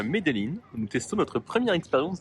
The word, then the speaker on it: Medellín: On a entendu les Colombiens dire Medellín. En tout cas, ça rectifie dans la suite du vlog. En faisant le montage, je réalise que j'alterne entre les deux prononciations.